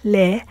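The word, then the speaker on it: לְ: Please take note that we use the prefix lamed, which is in most cases pronounced as le, as the tu of the infinitive forms of pa'al, pl, hif'il, hitpa'el, and nif'al verb types.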